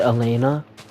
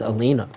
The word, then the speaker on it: Alina: When I pronounce her name wrong, I pronounce it Elena. And that's funny that I thought of Elena. But the actual pronunciation, and actually how you spell it is Alina.